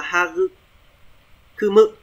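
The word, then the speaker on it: 育む: Thế này sẽ đọc là Hagu Kumu.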